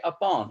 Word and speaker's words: upon: way words are pronounced the last part of the word upon is said with more force are stress upon okay upon upon so stressed syllables and